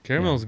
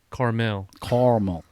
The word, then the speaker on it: caramel: Caramel's good. It is. It is. So is that- Or in my father-in-law's words, Carmel. Caramel. Carmel. Like, there's an A in there. And there's another syllable.